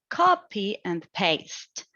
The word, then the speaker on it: copy and paste: Then we got copy and paste, which is a compound adjective. And the tendency is that it depends according to the syntactic position. In this case, it might be copy and paste. It is stressed on the first syllable and then the last syllable to maintain a balance. And this balance is where it sounds English.